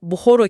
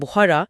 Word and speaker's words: Bukhara: Rusça telaffuzda birdenbire 'Meri' olur. Ya da 'Buhoro' kelimesi 'Bukhara' olur, 'Khiva' ise 'Kiva' olur.